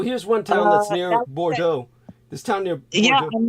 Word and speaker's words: Bordeaux: do we pronounce that famous French city b-o-r-d-a-e-a-u-x Bordeaux or Joe or Joe is that correct maybe yeah that's it Bordeaux Bordeaux wow so how did you know that